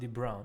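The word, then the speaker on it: de Bruijn: It's pronounced de Brown.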